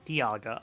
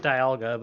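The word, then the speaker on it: Dialga: Apparently, the correct way to say it is Diaga. Okay, so it is Diaga. All right, I already said it Dalga, but that's I think I think one of the movies pronounces it Dalga, which is weird.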